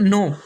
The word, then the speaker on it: know: इसके बाद का नेक्स्ट रूल है, जब के बाद एन आ जाए तो के साइलेंट होगा। जैसे कि KNOW नो, इसके बाद में है नॉलेज, उसके बाद में